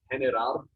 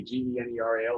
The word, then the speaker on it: general: be war, G-U-E-R-R-A, or if you put like an I or an E after it, like general, that would be G-E-N-E-R-A-L, like general.